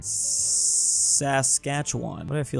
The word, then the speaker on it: Saskatchewan: in I always have to look up the pronunciation here Saskatchewan Saskatchewan but I feel like that's not technically right